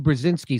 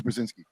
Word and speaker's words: Brzezinski: And big news, I think is how you pronounce it. It's big news, Brzezinski.